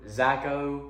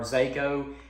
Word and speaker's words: Zako: pairing this up with is a white yamamoto zacko or zako it's pronounced or is spelled z-a-k-o so that's my